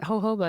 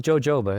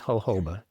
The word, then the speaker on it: jojoba: hoba cam for vitamin E and is it hoba is that how we pronounce it yes that is how you pronounce this never fully knew yeah yeah it's not jojoba it is hoba exactly so will you break down a little